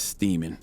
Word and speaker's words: Steeman: maryland man named thomas steeman and just no steaming rhymes with semen for a reason we'll talk about it